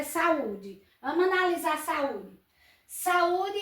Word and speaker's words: saúde: Vamos analisar saúde. Saúde é um hiato, a gente já viu. Mas se a gente for procurar a sílaba tônica dela, tá em qual posição? Oxítona, paroxítona, proparoxítona. Então, ela é paroxítona.